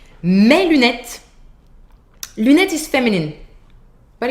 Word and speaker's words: mes: So mes lunettes, open sound, mes, final S, you do not hear it.